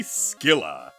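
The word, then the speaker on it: Scylla: shall become the mighty skilla and we got a Mana up I actually thought it was pronounced Sila but I looked it up you you pronounce the C here unlike Scimitar septile get power speed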